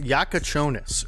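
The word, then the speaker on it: Jakučionis: Okay, so it is pronounced Jakucionis, and so that is a good insight here from the commentary.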